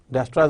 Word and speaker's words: Dijkstra: अब हम पहला एल्गोरिदम देख लेते हैं जो कि डायस्ट्रास एल्गोरिदम इसका नाम है, जिसमें जे और के साइलेंट डच साइंटिस्ट है।